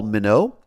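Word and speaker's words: Minot: His name is Paul Mino, I assume is how you say it.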